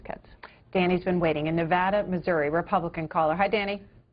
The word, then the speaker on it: Nevada: sorry I mispronounced it well it's Nevada as a state it's Nevada as a city but uh thanks for